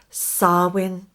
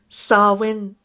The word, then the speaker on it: Samhain: before we start that the ancient celts pronounced it sarwin say it with me now sarwin now i like personally